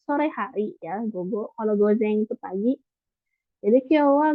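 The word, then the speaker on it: 午前: Kalau ini nomor 1 itu gozeng ya dibacanya.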